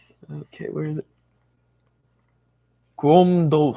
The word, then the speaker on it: Crom Dubh: Gromdo. Yeah, Crom Dubh. Crom Dubh. it sounds like a doof.